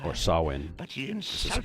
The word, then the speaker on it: Samhain: To the Druids, he is Samhain, lord of coldness and despair. Samhain was once a man like you or I, Or Sawin. but he This is insulted supposed to the be pronounced.